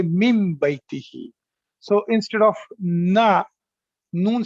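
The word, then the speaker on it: من بيته: so instead of that, you will not say min baytihi, you will say mim baytihi.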